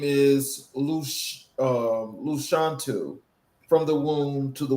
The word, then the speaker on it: Lashawnte: My name is Luc um Luchantu from the womb to the woman. So that is the phonetic way of saying my name.